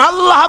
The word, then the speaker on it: আল্লাহ: আল্লাহ পাকের নাম হচ্ছে আল্লাহ মুখটা একটু গোল হয়ে যাবে বলেন আল্লাহ আল্লাহ পৃথিবীতে বিভিন্ন জাতি